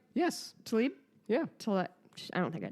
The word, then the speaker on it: Tlaib: Rashida Tlaib. Yes. Oh, shit. Did I say it right? Yes. Tlaib?